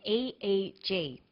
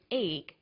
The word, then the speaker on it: EEG: researchers he says an e e g that's an abbreviation we don't pronounce it egg we say e e g e eeg stands for